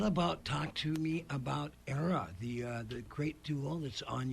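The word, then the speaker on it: Eira: name, Era, is actually the Welsh word for snow, which is pronounced Era, but we say Era because it's the United States.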